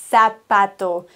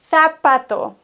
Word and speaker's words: zapato: wichtig repit os elato viele neigen dazu zu sagen el sapato wie ein S das ganze auszusprechen aber nächste Regel im spanischen wird ein Z gelispelt wie ein TH zapato und zwar egal welcher Buchstabe danach kommt ein Z wird